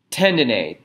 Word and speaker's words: tendineae: by these chordae tendineae is spelled CH ORD AE cord a or cords tendon a te ndin e AE AE